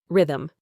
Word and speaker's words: rhythm: Rhythm. The H is silent in this case.